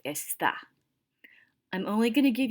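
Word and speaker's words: está: to use esta and make sure you have that accent mark over the a and it's pronounced estha i'm only going to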